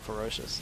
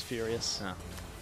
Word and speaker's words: Furious: name wrong Furious yeah it's not ferocious it's Furious I was trying not to